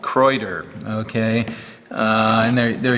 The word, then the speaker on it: Kraeuter: item a viewer pointed out that I was pronouncing I said Crowder um and um apparently the German pronunciation is like Croder.